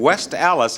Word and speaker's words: West Allis: I got a letter from Harriet Honorheim, who lives in West Allis, I believe it's pronounced, A-L-L-I-S, Wisconsin.